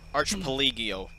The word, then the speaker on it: archipelago: i've never been able to say it right archipelago ah there we go archipelago go between the two rocks you can